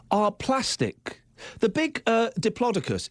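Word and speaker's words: Diplodocus: The big uh Diplodicus, apparently it's not pronounced diploidocus.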